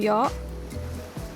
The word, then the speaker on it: yacht: Pronounce it if you try say all the letters in it.